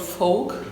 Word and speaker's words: folk: because I don't know, it's really hard to pronounce for Germans because everybody wants to pronounce it with the folk. L.